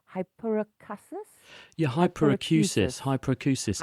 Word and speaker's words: hyperacusis: correctly H hyperacusis yeah hyperacusis hyperacusis hyper as an acoustic sound and this this is